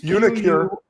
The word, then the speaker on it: uniQure: Because UniQure, I don't know how to pronounce the name, of course. It's UniQure.